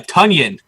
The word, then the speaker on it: Tonyan: goes it rhymes with he goes it rhymes with bunions i love it new